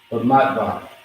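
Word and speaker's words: במדבר: Bamatbar is how you pronounce it.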